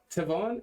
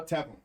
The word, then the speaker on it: Tevin: Tevon? That's how Tevin. Tevin. Tevin. Tevin. Tevin. Think of it as UAN.